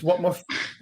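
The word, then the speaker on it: Whatmough: I think it's Watmuff. What What is that? Is that the way you pronounce that defender's name? Yeah, that's how it's pronounced. Yeah, it's a silent GH or whatever.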